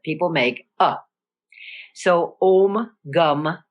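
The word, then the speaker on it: Gam: slide om G namaha now you notice it's spelled g m and it's spelled g n a p so but it's gum in Sanskrit as in the European languages when you have a particular vowel that vowel is always the same in English of course it's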